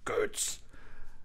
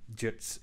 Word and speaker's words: Ģirts: I was like, well, I can't believe they would just pronounce it Ģirts. And then the Ģirts is, of course, much more, well, fitting, I would say. Yeah, it's much more Latvian-like.